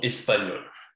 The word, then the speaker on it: espagnoles: Ok, don't pronounce the S. Elles sont espagnoles.